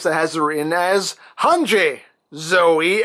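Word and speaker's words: Hange: Now, I have also seen official merchandise that has it written as Hanji Zoe, and that's how they pronounce it in the Japanese version of the cartoon, and that's what I'm used to.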